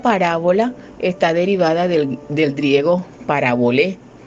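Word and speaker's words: παραβολή: La pronunciación es parabolé, así está en el griego, parabolé.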